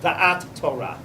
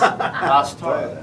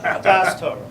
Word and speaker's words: Da'at Torah: And that's the topic of Da'at Torah. I can't even translate. First of all, you didn't pronounce it properly. How's it pronounced? Das Torah. I love how you Spartan pronounce it. Das Torah.